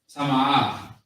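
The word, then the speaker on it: טמאה: You got to exaggerate it just a little bit because there's an extra A in there. Tama'ah. So if you pay attention, the ta and the ma and the are actually all by themselves.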